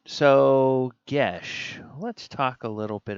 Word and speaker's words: geas: She pronounced this with a geas. That is the subject, ladies and gentlemen, geas, of our Divine Thursday for October 1st, 2020.